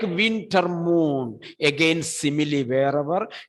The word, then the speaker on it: simile: Or as a tiger, he is running, simile. Simile spelling S-I-M-I-L-E. I could see many students were writing S-I-M-I-L-Y.